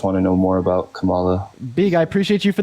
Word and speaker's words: Kamala: out her policy also her name is pronounced Kamala not Kamala sorry I know you